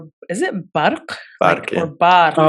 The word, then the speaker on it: Barq: And your Instagram, _, is it Barq? Barq, yeah. Or Barq? BARQ, yes. Yeah. With the but Q, not K.